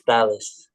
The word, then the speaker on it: Thalas: Is that, I never know how you pronounced it actually. Yes, Dallas.